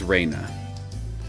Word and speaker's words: Rena: school for girl I'll go I'll sim it's Raina Raina is one of my classmates she really